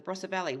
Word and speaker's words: Barossa: In Australia, where I am living right now, in South Australia, in a little country town, the Barossa Valley, which a lot of people might know for the wine region.